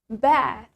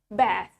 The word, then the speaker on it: bath: In British accent, we say bath. Bath. Let's say it. Bath. In American accent, we say it bath.